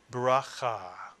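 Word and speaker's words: ברכה: end of a word, cha is correct. You put the word together, you get bracha. Bracha, a two-syllable word, bracha, from the Hebrew root, bet, resh, kaf, that has something to do with blessing.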